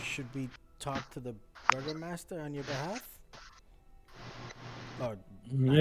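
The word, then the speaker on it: Burgomaster: I'm sure there's a proper way to pronounce it, but I I'm I'm pronouncing it the way I'm reading it. No, it's quite literally it's quite literally I should be like bour master or some stupid like that. I I Googled it. It's literally burger master. Okay. Burger master. So the I you not. It's burger master.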